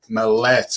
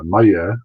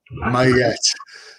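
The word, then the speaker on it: Maillet: real name is Robert Mallet. Am I pronouncing that right? Very close. It's Maya, but it's pretty close. I'll give you an A. Mayette.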